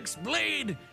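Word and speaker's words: χ-blade: aka the Xlade. Xlade. It's just pronounced like keyblade even though it's just one keyblade.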